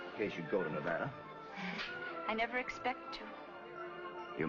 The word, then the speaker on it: Nevada: You dance very well for a man from Nevada. By the way, that's pronounced Nevada. I notice you give it the broad ah.